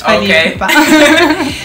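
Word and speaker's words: Fally Ipupa: I know Fally Pupa. That's how you pronounce his name? Yes, Fally Pupa.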